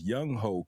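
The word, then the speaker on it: Younghoe: one on I wanted young way cool y'all saying the name wrong actually the name is much more crazy his name is Young ho C young hoov like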